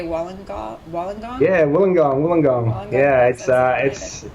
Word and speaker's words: Wollongong: Yeah, Wollongong.